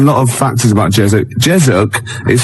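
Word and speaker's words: Jezoc: Jezuk is spelled J E Z O C.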